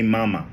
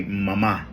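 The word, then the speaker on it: mamá: Again, when you are referring to mom and dad in Spanish, you don't say mama, you have to say mama. You got to put emphasis on the last A.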